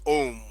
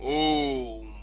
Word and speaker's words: Om: And now, Hindustan, first I talk about the temple hymns in Hinduism, and the mystic word is Om. Om. It is chanted with its elongated form, Om, and believed to have